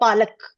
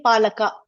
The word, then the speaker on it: palak: Like for example, palak. When we say palak, that ka is half. We cannot say palaka.